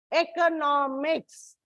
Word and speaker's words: economics: in the stress marking like economy it is on the second syllable economics it's on the third syllable and you should remember